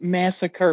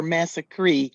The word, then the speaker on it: massacre: in and definitely since the Ramones pronounced massacre massacree in order for it to rhyme with me now see that that